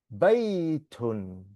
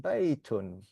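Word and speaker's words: بَيْتٌ: Okay, it's got a tanween at the end there, so it's pronounced baitun. Okay, it's pronounced baitun.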